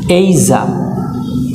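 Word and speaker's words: Asia: দ্বারা আর এটা হচ্ছে এখানে স্ট্রেস এখানে একটু জোর দিয়ে বলতে হবে এইজা এ এ সাউন্ড আই সাউন্ড জা সাউন্ড আ সাউন্ড তাহলে এইজা এইজা অথবা এইশা এইশা তাহলে এটার উচ্চারণটা কি এইজা অথবা এইশা ওকে চলো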